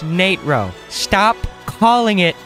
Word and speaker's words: Natro: the Nate row macro and yes it is pronounced Nitro stop calling it natural oh my God a lot of thought and